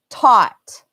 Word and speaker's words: taught: um that's taught so this a is exactly the same as this a thought taught but this is au U GH uh ght and this is OU ght and they sound exactly the same and it sounds exactly the same as o like the O in pot it's just the way